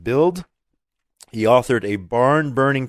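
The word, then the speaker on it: Bild: the best-selling German newspaper I believe it's pronounced build he authored a barn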